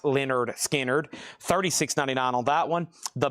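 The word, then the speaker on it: Lynyrd Skynyrd: There's their classic debut, pronounced Leonard Skard.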